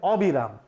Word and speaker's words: অবিরাম: না সরি এটা হবে অবিরাম অবিরাম এখানকার অ কিন্তু অ এর মত উচ্চারিত হবে কারণ বিরাম শব্দের বিপরীত অর্থ দিয়েছে আমরা উচ্চারণের সময় পড়েছিলাম